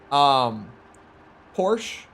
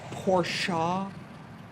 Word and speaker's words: Porsche: Porsche. It's actually Porsche.